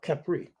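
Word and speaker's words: Khepri: pushing up the sun Kea or kepri they have different ways of pronouncing it uh so this slide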